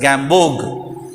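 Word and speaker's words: Gamborg: prepared by gambog bog the r b o r g will be that but we have to pronounce as gambog the next medium is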